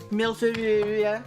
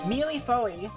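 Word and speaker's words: mille-feuille: Alright, I'm gonna look up how to say milfil. The internet will help me. Alright. How do you say it correctly in French? Mealy-foey.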